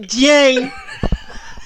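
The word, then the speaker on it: Jayne: If you've got got Y in your name and you're Jane, you pronounce it Jane.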